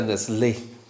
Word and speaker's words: Nestle: Y además me corrigieron se se pronuncia Nesle sin la T.